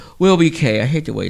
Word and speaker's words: WILLBEEKAY: Also, you can check us out on Instagram, Trip Up Radio Show on Instagram, or WILLBEEKAY, which is Will Be K.